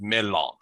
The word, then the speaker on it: mellon: But in Sindarin, which is the name of the language that Tolkien comes up with, it is pronounced melon, which is what Gandalf tries to say.